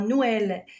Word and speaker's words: Noël: Alors, le tremma, le tremma se place sur la deuxième voyelle d'un groupe pour indiquer qu'elle se prononce séparément. Regardez en Noël, maïs, naïf. Alors là, on a deux voyelles qui succèdent et le trément s'installe sur la deuxième voyelle pour montrer que la deuxième voyelle se prononce séparément de la première.